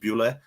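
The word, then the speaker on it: Bulut: It's spelled Bulot, but it's pronounced Bule.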